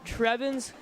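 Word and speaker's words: Trevians: But anyway, we're here for this homecoming matchup between the 1 and 3 New Trier Trevens. Is that correct how you pronounce it?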